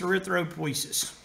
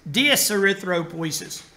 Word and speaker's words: dyserythropoiesis: Oh, dyserythropoiesis. Dys means abnormal. Anytime you see dys in front of something, that's a prefix that means abnormal.